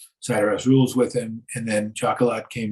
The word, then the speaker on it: Chocolat: it was right and it worked did I mispronounce it you said shakala Chocolat Chocolat okay yeah French and it's based on